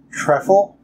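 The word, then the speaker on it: Trèfle: It is Treffle, I believe I was pronouncing that right, because it's not a U.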